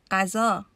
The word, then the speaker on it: غذا: in English, but it's close to the sound of R in the French pronunciation of the word Paris, Paris.